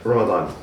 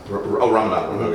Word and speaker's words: Ramadan: Ramadan. Ramadan.